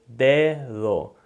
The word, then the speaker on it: dedo: So it's dedo. And that second D, you almost can barely make it out, and you're almost barely touching your teeth when you make that sound.